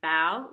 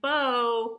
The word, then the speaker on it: bao: the pronunciation of Bao so it says Bao like wow like bowing like the kitties bowing okay so that's how you say it foul and it's telling him here not like bow bow that Kitty's wearing